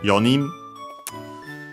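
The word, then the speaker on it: 四人: Uh so yeah we use yon instead but in this case actually without the uh final n usually present we use only y uh so be careful the accent is still on the knee yin uh for five gin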